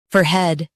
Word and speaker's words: forehead: fore head forehead fore head forehead In US, stress fore and keep head soft. In UK, fore is emphasized.